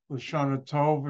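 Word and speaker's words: L'Shana Tovah: Lashana Tov is how you say it in Hebrew.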